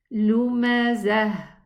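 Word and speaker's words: لمزة: But if I stop on it, I'm going to pronounce it a ha. Lumazah. Zah. Okay? But if I'm going to connect, I'm going to say lumazatini ladhi.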